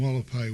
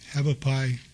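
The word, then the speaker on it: Hualapai: of Charleston Boulevard and Wallapai Way. Some people say Havapai, the Indians call it Wallapai, Native Americans, so that's why I pronounce it Havapai.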